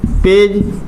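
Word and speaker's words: page: copy को पेज देखो जी के बाद का आ रहा इ आ रहा तो जी को उच्चारण का निकल रहा हो ज निकल जो नियम आए अपना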